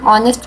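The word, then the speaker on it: honest: His father is एन ऑनेस्ट businessman. N इसलिए लग रहा है बिकॉज़ ऑनेस्ट में same issue. H is silent and ओ S vowel.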